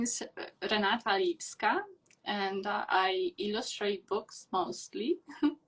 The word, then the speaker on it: Liwska: Actually, the W in European languages is pronounced as V. Liwska.